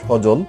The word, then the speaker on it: সজল: একেবারে সজল, সজল শব্দের মধ্যে দন্তস্ব আছে, এখানে দন্তস্বের সাথে একটা অ আছে, আর জয়ের সাথে অ আছে, এই অটা কিন্তু ও হয়নি, অ হিসাবেই উচ্চারণ হয়েছে।